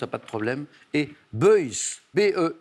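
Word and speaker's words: Beuys: pas de problème et boys behe y y s je crois qu'on dit plutôt boys effectivement on le sera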